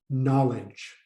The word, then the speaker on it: knowledge: to the sight pleasant knowledge knowledge knowledge knowledge remember that the k is solid the k is silent here knowledge so knowledge means